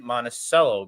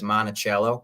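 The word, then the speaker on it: Monticello: two argal number nine monacello Grazy so people that are outside of Wisconsin always seem to pronounce monacello as monachello because that's what the monument is called and I think that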